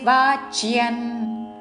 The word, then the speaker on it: వాచ్యన్: వే న చాశుశ్రూషవే వాచ్యన్ వా దీర్ఘము దాని మీద ఆఘాత పక్కన చాకి యావత్తు వాచ్యన్ అనుస్వారము ఉచ్చారణ న చాశుశ్రూషవే వాచ్యన్ న చ మాయోऽభ్యసూయతి న